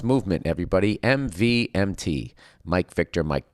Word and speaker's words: MVMT: MVMT, pronounced movement, grew into one of the fastest growing watch brands, shipping to over 160 countries across the globe.